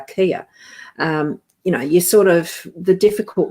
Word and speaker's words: chia: And the same as chia seeds are not pronounced that. They're kia.